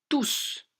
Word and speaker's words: tous: et bien tout simplement le mot tous lorsqu'il et prônons se prononcent tous au pluriel comment sèche que c'est